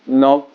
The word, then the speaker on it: Nantes: Today let's talk about Friday prayer, friendships, in Nantes, but actually you pronounce it Nantes.